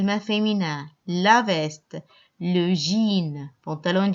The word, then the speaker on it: jeans: féminin la veste le jeans pantalons jeans le jean jean on ne prononce pas le s à la fin de mon mich birel